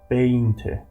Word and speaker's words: veinte: 20 in Spanish we say veinte. Veinte. Do you remember that? We normally pronounce the word V in English as a B.